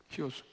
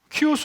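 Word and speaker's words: Χίος: 히오스. 키오스 아니냐? 히오스래. 나보고 키오스라 한다고 웃어요. 계속 발음이 틀린 게 나오는 거야. 그래서 소위 크리스토스 할 때 그 카이라는 글자가 있어요. X자. 그걸 키라고 우리가 읽는데 현대 헬라어에서는 히라고 읽어요. 키라고 안 읽어요.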